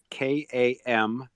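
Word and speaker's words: kamtschaticum: Well, I'm just going to spell it for anybody that's interested. Camstacheticum variegatum. It's Kamschaticum.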